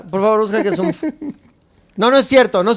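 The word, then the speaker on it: OOMF: Lo que yo te estoy diciendo, maldita necia, es que O-O-M-F, que yo pronuncio umf porque así se lee, significa one of my followers.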